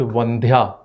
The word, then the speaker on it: Vandhya: So he asked, is it Vandya or Vandya? And she confirmed, no, it is the Mahaprana sound.